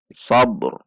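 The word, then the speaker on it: صبر: Hati-hati, karena qalqalah pada ba tidak melibatkan penambahan harakat padanya. Huruf r dibaca dengan tafhim karena didahului oleh fathah. Sabr.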